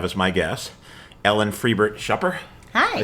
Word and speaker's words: Schupper: So today, I'm very pleased to have as my guest, Ellen Friebert Schupper.